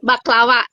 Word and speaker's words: baklava: Ramadan gitu nah bak baklawa dibacanya baklawa ya itu dibac dibacanya e w ya baklawa jadi dibac makanan